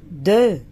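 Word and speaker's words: deux: اكس في الاخر دي لا تنطق، يبقى دو.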